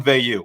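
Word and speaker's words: Veilleux: as a result christian veyu and that's the pronunciation i'm officially going with from here on forward got that word from greg kinkade the sid at penn state so we're going vayu we've heard it both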